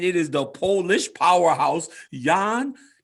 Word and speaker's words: Jan: is the polish powerhouse yawn you got to say it right young it's time to start pronouncing it the correct way the polish powerhouse i